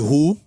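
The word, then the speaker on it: הוא: Quem aqui em hebraico se pronuncia, sabe, Hu, em hebraico.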